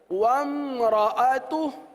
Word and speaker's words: وَامْرَأَتُهُ: واو میم زبر وم وم را زبر را ومرا. کیا ہو گیا؟ حمزہ زبر ا ومرا ومرا تا پیش تو ومرأتو ہا الٹا پیش ہو ومرأتو.